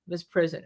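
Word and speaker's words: misprision: s p r i s IO n okay Miss prison okay uh so that you don't report a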